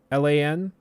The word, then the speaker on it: Lochlan: So his name is technically Lachlan, Lochlan. So how we got it, it's a slightly more rare version of the traditional name, which is Lachlan, which is spelled with an A, or with so it's Lach, instead of Loch.